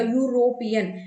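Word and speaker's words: European: vowels तो आया नहीं हमें इसके उच्चारण को देखना है दैट मींस यहां पर ये कॉन्सोनेंट वाली साउंड है य ठीक है क्योंकि अगर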